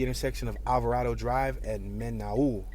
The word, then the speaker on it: Menaul: We're at the intersection of Alvarado Drive and Menaul. It almost reminds me of Manuel, but it's spelled different.